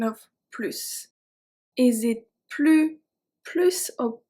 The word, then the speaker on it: plus: Let's start with plus when we pronounce the S, when it means more. It can be in the middle of the sentence or the end of the sentence.